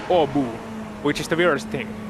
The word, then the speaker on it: Åbo: Language facts, in lap 4 of the race, in Swedish the O is pronounced, regular O is pronounced like U. So in Finnish we have a city called Turku, which in Swedish is Åbo, and it's written A with an accent on top, B, O, and it's pronounced in Swedish Åbo, which is the weirdest thing.